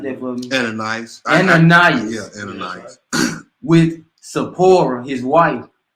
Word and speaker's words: Ananias: But a certain man named pronounce that for me. Ananias.